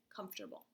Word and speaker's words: comfortable: like come for trouble if we set it the way that we spelled it okay so let's counter syllables comforter Bowl three and when you're writing it think about the way I just set it calm fort bubble three parts calm fourth bubble and we say it comfortable okay go ahead and